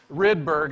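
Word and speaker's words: Rydberg: the University of lond I think a Swede would probably pronounce this something like R but you don't have to say that you can just say ridberg and it'll be fine and in honor of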